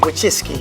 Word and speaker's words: Wojcicki: Susan Wojcicki. That's good. Fantastic. Wojcicki. Great job, but I respond to all versions. Wojcicki, so I have been pronouncing it correctly all these years.